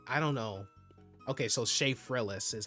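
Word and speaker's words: Shaffrillas: Okay, so Sha Frillis is how it's pronounced.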